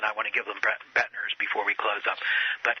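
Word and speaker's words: Boettner: They can, other than I want to give them Bettner's before we close up.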